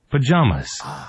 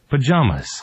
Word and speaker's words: pajamas: pajamas, 파자마가 아니네요. 다시 갑니다. 파자마가 아니에요. pajamas, 그렇습니다. pajamas.